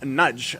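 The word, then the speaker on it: Nagy: just FY it's Adam nudge um believe it or not even though it's spelled n a g y it's a Hungarian uh Chap and his her name is nud it got me off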